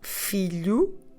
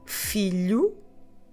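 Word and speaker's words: filho: but without yes Philo so this sun is feel you and now this one is pretty regular the daughter is a philia so let's do it again the Sun Philo the daughter uh philia so now let's put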